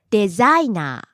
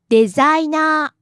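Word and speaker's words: デザイナー: The first one is designer. Low to high then back down to low. Designer. That's what Akihiroan said. And the other pronunciation is designer.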